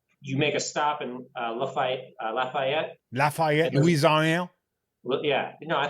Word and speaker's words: Lafayette: Orleans to Texas, you make a stop in Lafayette, Louisiana. Well, yeah, no, I think you pronounced it correctly. Yeah, down on the bayou, Lafayette, Louisiana.